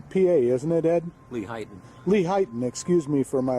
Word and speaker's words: Lehighton: the at his place, the Hillside Garden in Layton, PA, isn't it, Ed? Lehighton. Lehighton, excuse me for my lousy pronunciation of these Eastern terms that I'm not familiar with.